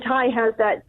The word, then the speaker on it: Tai: And so what's your take on Catherine Tai? Is it Tai or Tay? How do you say that? What's the correct way of saying that? Tai.